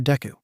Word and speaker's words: Deku: But Deku is pronounced the same as Dekaru, which means I can do it, Ochako said brightly.